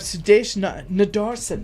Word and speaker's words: Sudesh Nadarsen: Well, talking about road trips, today we have um we have Sudesh Nadarsen is how you pronounce it.